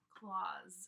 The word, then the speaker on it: clause: claws. And we're making a z sound at the end here. It's aw for the vowel claws. It's a unit of grammatical organization next below the sentence.